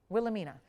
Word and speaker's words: Wilhelmina: Wilhelmina. There's a famous modeling agency called Wilhelmina.